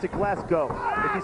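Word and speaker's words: Glasgow: tag not enough momentum behind him actually should pronounce it glasg go if you say glasow around these people you might get you might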